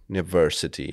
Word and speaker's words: University: logika by byla správná Jenomže v angličtině se nám děje velmi často že slovo začíná na samohlásku ale vyslovuje se souhláskou jell j j j není samohláska a proto je to vlastně jako takovej chyták oblíbený učitelů angličtiny nebo třeba univerzita je sice u ale řekneme University že jo ř univ takhle